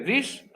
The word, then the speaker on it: this: En el primero, hagan como una i cortita. This, this, this. Y en el segundo se hace una i más larga. These, these. Y al final la S es como una vibración. These, z, these are.